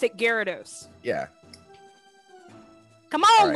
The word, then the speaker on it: Gyarados: It's they pronounce it Gyarados.